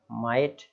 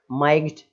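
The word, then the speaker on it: might: Next और देख लीजिए, माइट, माइट है ना, शक्ति, माइग्ड ऐसा नहीं बोलना है, घा नहीं बोलना है उसको, आप बस इतना याद रखें।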